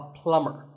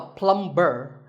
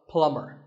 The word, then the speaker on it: plumber: pipes at your house you call him a plumber not a plumb burn the B is silent so plumber in fact in many